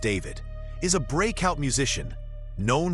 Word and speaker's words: D4VD: For those unfamiliar, D4VD, pronounced David, is a breakout musician known for turning heartbreak and raw emotion into viral songs.